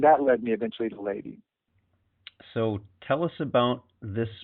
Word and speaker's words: Ledi: Ledi is actually a slightly more correct pronunciation.